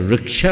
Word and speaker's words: वृक्ष: ये अलग अलग देशी शब्दों में, लेकिन सही अगर वृक्ष बोले ये सही उच्चारण है, वृक्ष ये उच्चारण सही प्रतीत नहीं हो हिंदी में।